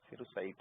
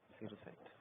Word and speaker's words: cerussite: सिरुसाइट है। CERUSSITE, सिरुसाइट।